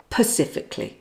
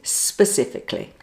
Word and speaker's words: specifically: So don't say pacifically. The correct pronunciation is specifically.